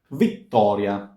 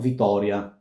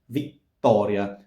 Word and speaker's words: Vittoria: Vittoria, long T, not Vittoria, Vittoria.